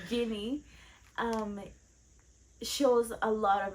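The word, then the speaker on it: Ginny: yeah J okay good I said it right jinny um shows a lot of interest in Harry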